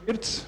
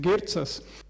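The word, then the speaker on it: Ģirts: But my name is Girts. Lithuanian pronunciation is supposed to be Girtsas.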